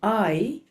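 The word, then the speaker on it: Aye: in the Eye. It's spelled A-Y-E, the Eye, on Anglesey Street.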